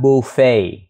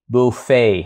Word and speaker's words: buffet: ta có danh từ chính ở đây là buffet buffet hay là buffet ha Mình đọc là buffet buffet cái thường trong các cái